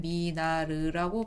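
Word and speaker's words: Minard: 미나르라고 하더라고요. 제가 토종 한국인이라 끝까지 다 있는 습관이 좀 있는데 실제로는 미나르라고 발음합니다.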